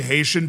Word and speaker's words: Haiti: There is nothing cooler, by the way, than the way Haitian people pronounce Haiti. As somebody that has been able to interview Haitian people, like they don't say the H.